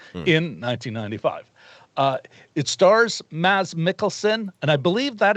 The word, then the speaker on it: Mads: uh it stars maz mickelson and i believe that is how you pronounce his first name not mads but mass something like that something to that effect